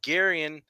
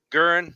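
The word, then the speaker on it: Guerin: Ryan Zimmerman from Garion, Garion. I don't know how to say it. Sorry. Gurin. Yeah, there you go.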